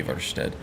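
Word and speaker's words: Ivarstead: would be it was it's supposed to be evarted but I'm not going to call it that I'm not going to call it karth Watson I'm most likely just going to call it carthwayston and I'm gonna call it iverstead because that's what I've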